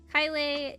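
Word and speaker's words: Caelei: Kylie is spelled like this.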